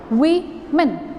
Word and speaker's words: women: But this plural of this woman is spoken as women. We-men. We-men. Woman.